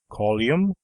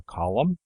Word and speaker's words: column: either duty or duty it is not only from untaught speakers that we hear such slovenly articulations as call Youm for column and pretty or pretty